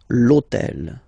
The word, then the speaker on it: l'hôtel: H, but remember that in French we don't pronounce H. Okay, so basically the first sound of the word is the vowel O. Okay, so for the same reason, needs to disappear. L'hôtel.